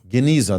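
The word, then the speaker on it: genizah: Correct me if I mispronounce it. Geneza. Geneza.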